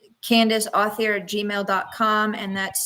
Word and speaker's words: Authier: It's French, so you can pronounce it Authier.